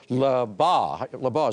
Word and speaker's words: Labagh: Head coach Labagh is pronounced.